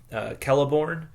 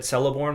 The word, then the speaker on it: Celeborn: And, so for one example, if you just see a C standing by itself, like, the name, he gives the name Celeborn, which I would have said Celeborn when I first started reading these things, but it actually is pronounced Celeborn.